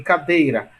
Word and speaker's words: cadeira: E se essa sílaba for a penúltima, veja, em cadeira, Ra é a última e Dei a penúltima.